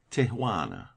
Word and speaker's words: Tijuana: There is a pretty little Mexican town on the line between Mexico and California, Tijuana, pronounced Tijuana.